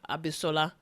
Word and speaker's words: Abishola: coming this fall to CBS called Bob Hart's Abishola.